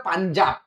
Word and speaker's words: পাঞ্জাব: Ibn Battuta কোন নদীকে পানজ আব বলেছেন? পানজ আব থেকে দেখো একটু ভালোভাবে উচ্চারণ করলে কি মনে হবে? পাঞ্জাব। পানজ আব, পাঞ্জাব।